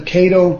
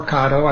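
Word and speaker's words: Caddo: and the other ones called the Cato or kado I've heard it pronounced both ways trials and I found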